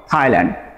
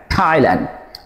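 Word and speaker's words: Thailand: খেয়াল করেন, থাইল্যান্ড, নট থাইল্যান্ড, থাইল্যান্ড।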